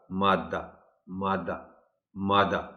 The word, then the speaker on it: مادہ: جائے گا، یعنی مادہ۔ مادہ اگر آپ شد نہیں دیں گے، صرف میم الف دال ہے لکھیں گے یا بولیں گے، تو پھر ایک تو یہ ہے کہ اس کا تلفظ ہوگا مادہ مادہ مادہ، اور اس کے معنی ہوں گے مؤنث کے، یعنی فیمیل جنڈر ہے